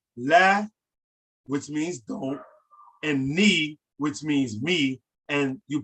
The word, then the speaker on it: nee: The word for me is ni, right? Ni, as in my knee, but it's spelled N-E-E.